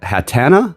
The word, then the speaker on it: Hatenna: a new Pokémon introduced hat hatana like hat plus an antenna I didn't look up